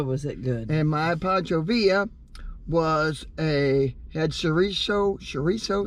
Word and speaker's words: Pancho Villa: had the pancho villa pachovia i keep saying it wrong yes you did it's spelled villa but it's pancho villa okay let's see what's